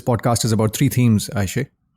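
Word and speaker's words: Ayşe: Aisha, am I pronouncing your name right by the way? Aisha, is that right? You're doing it beautifully.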